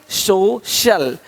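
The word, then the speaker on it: social: सकता है अब देखो यदि सी के आगे आई ए हो तो सी का उच्चारण श होता है क्या होता है श होता है क्या लिखा हमने सोशल सोशल सोशल तो यहां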